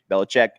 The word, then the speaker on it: Belichick: Belichick. I always remember that South Park episode, like Billy Chick.